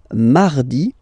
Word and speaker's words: mardi: Then mardi, mardi. So you can hear that you don't pronounce it that strongly, this R. Hein? Mardi, mardi. Okay, you don't need to go too deep like mardi.